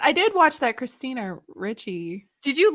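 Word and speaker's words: Ricci: the christina richie or how do you say your last name richie what does she i think it's reachy technically but i think adams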